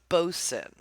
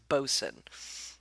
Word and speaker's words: boatswain: Also, it's pronounced bosun. Don't want to be a butthead. I know it's spelled boatswain. It is pronounced bosun.